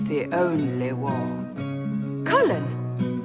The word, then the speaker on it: Cullen: it's the only war cullen that's colin the mage wore